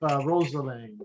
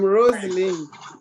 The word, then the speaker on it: Rosaline: Rosalind. Rosalind? Oh, you're muted there. Sorry if I butchered your name. I'm Rosaline.